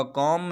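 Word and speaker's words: comb: अब यहाँ पर दोनों जगहों पर आप देख सकते हैं एम के बाद बी आया है, इसलिए हम लास्ट पे, आप यहाँ पर ये उर्दू वाला प्रोनाउंसिएशन देखें, दोनों जगहों पर लास्ट पे मीम है ना कि बी है, तो इसलिए हमने एम का प्रोनाउंसिएशन किया है, बी को साइलेंट रखा है।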